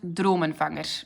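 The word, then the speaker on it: Drømmefanger: It is pronounced Drummerfanger. For the ones who don't know how to pronounce it, Drummerfanger.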